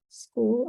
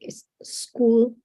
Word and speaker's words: school: Is like is school, is school. So it becomes two syllables, and that word is only one syllable. School. School. School. Because if you say is school, then it's S, one syllable, and then cool is the second. But it should be like school, like speak. School.